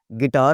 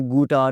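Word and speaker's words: guitar: गिटार होता है, कभी आपने गुटार नहीं कहा, गिटार होता है जी।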